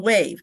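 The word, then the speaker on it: WAHVE: Our first speaker will be Sharon Emick from WAVE, and that's spelled W-A-H-V-E, which is a great anachronism for Work at Home Vintage Experts.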